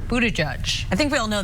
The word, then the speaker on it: Buttigieg: Mayor Pete's last name is pronounced Buttigieg.